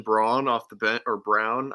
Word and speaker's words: Braun: Christian Braun off the bench, or Brown. I think it's spelt Braun but pronounced Brown.